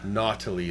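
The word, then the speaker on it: Nottoli: Uh, Nautily is how you pronounce it.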